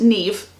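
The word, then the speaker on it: Niamh: But there's also some other names, like one of them is N-I-A-M-H, and that is pronounced Neve.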